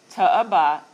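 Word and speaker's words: תועבה: So it gives me the transliteration, to-eba, or to-eba. The pronunciation, they break it down. So if you didn't have this, this is how you would say it. To-e-ba.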